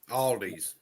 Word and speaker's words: Aldi: Aldi's. Aldi. See, I was pronouncing Aldi, the yeah.